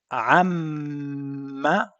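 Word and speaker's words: عمّ: The first time you hold your lips together for at least 2 seconds, then you release it. So this way you have the meme pronounced with the appropriate stress on it.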